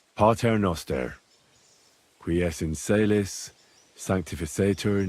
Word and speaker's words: Pater Noster: You're saying it wrong. Listen. It goes like this. Pater Noster, qui es in caelis, sanctificator nomen tuum.